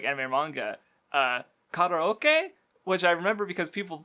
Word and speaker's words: karaoke: Karaoke, which I remember because people fucking butcher the shit out of that. Yeah. Karaoke.